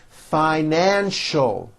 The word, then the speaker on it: financial: has a familiar face financial three syllables fi nan sho new york is a